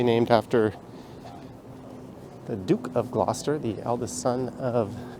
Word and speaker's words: Gloucester: to nerd out on and this street is Glouchester at least that's how you might read it GL c s t e r that's actually pronounced Gloucester someone having a bit of an episode over